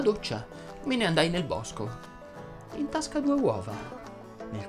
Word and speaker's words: bosco: Ho usato la parola bosco, che va pronunciata con la O aperta.